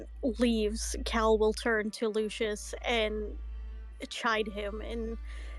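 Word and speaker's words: Leucis: L-E-U, Lou, C-I-S, Shis. Lucius.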